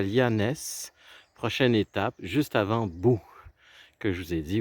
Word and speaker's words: Boo: Je m'en vais à Boo. Boo, c'est une ville qui s'écrit B-O-O. Alors, c'est la ville qui fait peur en anglais, là. When you say Boo.